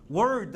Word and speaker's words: word: 하죠 단어는 영어로 뭐라고 하죠 word 그렇습니다 요거 발음 하실 때요 word 하면은요 혀가 어디에 다요 안 다요 word 안